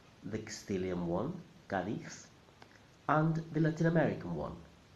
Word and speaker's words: Cádiz: There are only two possible correct pronunciations. The Castilian one, Cádiz, and the Latin American one, Cádiz.